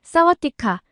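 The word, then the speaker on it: สวัสดีค่ะ: 배워서 오시는 것 같더라고요 태국어로 안녕하세요를 말할 때는 성별에 따라 발음을 다르게 해야 하는데 여자가 말할 때는 싸와디카 그리고 남자가 말할 때는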